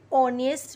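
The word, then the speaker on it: honest: एच तो consonant है पर यहाँ पे जो साउंड है ना ओ का है, ऑनेस्ट मैन, यहाँ पे साउंड वॉवल का है और वॉवल के आगे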